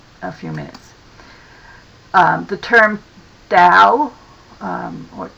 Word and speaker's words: Tao: The term Tao, or Tao, actually pronounced more like D-O-W in some of the more modern translations to write it that way, means way.